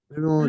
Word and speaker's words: rose: जैसे कि देखो, ROSE, यहाँ ई है तो सही, लेकिन इसका कोई आवाज नहीं है, साइलेंट है। कैसे साइलेंट है? रोज रोज। अगर ये ई बोलता तो क्या रोज बोलता? ई बोलता क्या, कैसे बोलता? रोजी, है ना? रोजी रोजी, या रोजे या रोजी, ऐसा कुछ नहीं है, ये क्या है, रोज है।